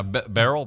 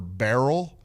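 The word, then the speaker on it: Beryl: wa what's right now barrel barrel barrel barrel b e r y l it's like Daryl with a B but they don't even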